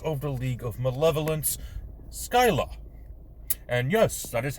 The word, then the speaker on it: Skylla: after hearing this information skill skyla almost make the wrong pronunciation skip town and ditch